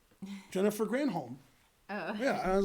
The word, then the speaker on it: Granholm: I like the previous Michigan governor because her name rhymed with damn Holmes. Jennifer Granholm.